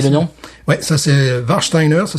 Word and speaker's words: Warsteiner: Ouais, ça c'est Warsteiner, ça s'écrit W-A-R-S-T-E-I-N-E-R.